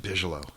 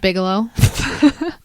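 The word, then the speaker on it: Bigelow: you say his name is that really how you say it it's not Bigalow told you I'm bad at pronunciation I'm just a Bigalow know the um yeah I believe it's bigo oh okay uh which I used to pronounce it Bigalow too but but I believe it's bigel laser lasar whatever laser yeah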